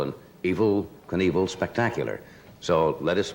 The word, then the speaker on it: Evel: you met in uh it's not evil evil it's really it's e-v-e-l I suppose he pronounces it evil does he not I